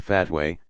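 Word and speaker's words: fatwa: issues a legal advisory called a fat way pronounced f8 wha specialists in the religious sciences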